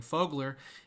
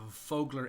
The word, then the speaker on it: Vogler: anyway I don't know I keep saying it like Germans pronounced that V that's a hard hit break yeah I I I I I'd say it the same way so it's like fogler well I mean when